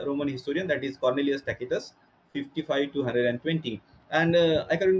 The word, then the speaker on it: Tacitus: His pronunciation is Tacitus.